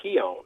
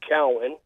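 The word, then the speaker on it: Keown: it's an irish name it's k-e-o-w-n yeah which if you just look at it phonetically it looks like keon right but it's really pronounced cowan and people said oh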